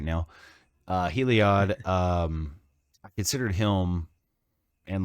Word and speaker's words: Heliod: Is that how you say it? Heliod. I would say Heliod, but I don't know. Heliod. Yeah. It's Heliod. You're right. I can't English right now. Heliod.